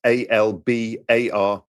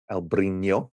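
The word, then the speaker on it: Albariño: That's Albarino with a over the N, Albarino.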